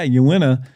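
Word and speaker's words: Uinta: anybody say that town that City but yeah you win a it's just it's little things like that I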